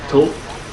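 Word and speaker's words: Thoth: for what it's worth it's just pronounced to like like the word toe but it drops off um that's hard to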